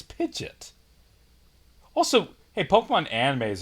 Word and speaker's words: Pidgeot: don't know and like so many people called a Pidgeot that now that's the official name and they use them interchangeably like what no pitch yet it's it's spelled terribly like I'll give you that if there was no o less people would be confused but I still think yeah it's Pidgeot also hey Pokemon anime